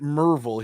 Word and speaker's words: Maryville: In Maryville, but I think they pronounce it Merville here.